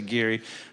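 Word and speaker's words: Geary: and gary county or gary county depending on how you want to say that some people say gary some people say gary but uh anyway it's spelled g-e-r-y and the committee in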